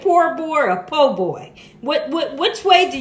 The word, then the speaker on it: po boy: like I want to say poor boy but I know it's po boy but I feel kind